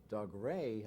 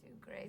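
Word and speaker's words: Dougray: And in the Franciscan library, Doug Ray, a lucky guy. He's so wonderful. Our Prince Charming is absolutely charming. He is so wonderful. Doug Ray Scott, yeah. Doug Ray Scott.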